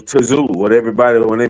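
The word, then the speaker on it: Tszyu: It wasn't Zoo, it was Tazoo.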